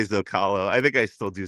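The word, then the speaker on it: Zócalo: And I'm gonna say it the way you and I learned how to say it properly on that same day after years of saying it wrong. Rancho Dell Zokalo.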